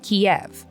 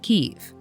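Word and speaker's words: Kyiv: Ukraine which a lot of people used to pronounce Kiev but which we now know is pronounced Kiev in their Advance the Russian army made critical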